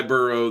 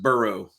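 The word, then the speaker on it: Boireau: And it's Burrow spelled like I wish they would have spelled Joe Burrow's name on when they did the the cinjunizing of his name. Yeah, this guy's name is spelled B O I R E A U.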